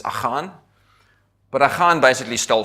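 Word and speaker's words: Achan: they catch the guy everyone calls him akin the correct pronunciation pronunciation of akin is ohon but a hard basically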